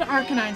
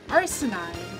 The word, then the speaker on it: Arcanine: they said oh um okay like they called Arcanine something stupid like arsenide and it's like where where where in that